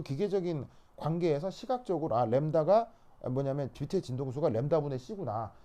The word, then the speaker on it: 람다: 그리고 네 번째, 바로 이렇게 쓰고 읽을 때 램브다 라고 읽어요. 램브다. 근데 이제 빨리 발음해서 램다라고 발음을 하죠.